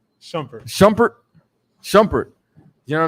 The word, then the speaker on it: Shumpert: what how you say it Iman Shumpert Iman shpet Shumpert Shumpert Shumpert you know what I'm saying so